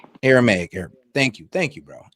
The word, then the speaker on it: Aramaic: He says Jesus spoke Abrahamic. And how do you say God and Abrahamic? Allah. Abrahamic is close. Yeah, Abrahamic is close to Arabic. Huh? It's Aramaic. Aramaic.